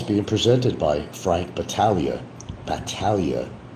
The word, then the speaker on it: Battaglia: Battaglia. Pronounce it right next time.